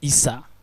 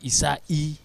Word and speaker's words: Issa: captain Q player is doesn't pronounce his name as Issa but Issa I hope there's no relation